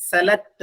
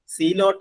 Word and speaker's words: zealot: അതിന്റെ ഉച്ചാരണം സെലക്ട് എന്നാണ്. സെലക്ട്, സീലോട്ട് എന്ന് ഉച്ചരിക്കരുത്, സെലക്ട്.